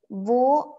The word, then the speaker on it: wo: in german we say vo is that you pronounce it as v or this is used